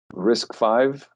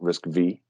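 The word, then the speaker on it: RISC-V: think of it just at its basics uh risk five that's how we pronounce that right that's not risk v risk is the reduced instruction set right something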